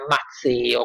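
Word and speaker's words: Mazeo: il satrapo di Babilonia, Mazzeo, con una Z solo si scrive e si pronuncia, che guarda caso gli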